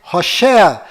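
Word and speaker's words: הושע: Este nome que você está vendo é o nome de Oséias, que do qual Moisés mudou para Josué, mas a pronúncia correta de Oséias é Rochéa.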